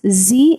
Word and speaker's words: sie: She is called sie, pronounced as sie in German.